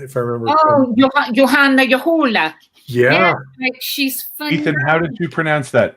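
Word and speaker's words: Johanna Juhola: Uh, Janna Joolah, if I remember. Oh, Johanna Yahoola. Yeah, she's funny. Ethan, how did you pronounce that?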